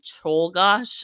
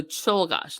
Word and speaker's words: Czolgosz: So Czolgosz, Leon Czolgosz, I think is how you say it.